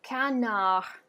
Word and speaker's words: canard: All right, the next word is going to be canard. Canard. As you can hear, I'm completely dropping the D.